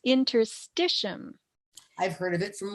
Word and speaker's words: interstitium: Some people mispronounce it interstidium or stitium, but it's interstitium.